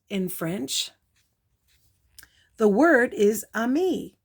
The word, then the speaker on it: ami: French the word is Ami mom says you say it like this ah me a me I love French everything